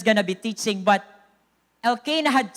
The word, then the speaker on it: Elkanah: Oh, that's bago man nga pronunciation. Dire Elkanah. It's Elkanah in 1 Samuel. Elkanah.